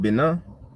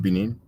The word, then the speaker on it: Benin: they engage in syncretism in countries like bina you might pronounce it in english the republic of benin some people are openly